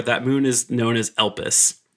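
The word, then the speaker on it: Elpis: moon is known as elpus e l p i is how I've spelled it doing my hardest to not pronounce piss in that sentence but elus is the Moon's name now you get those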